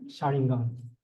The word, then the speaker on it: xaringan: The first with, how do you say, Shanagram? Xaringan.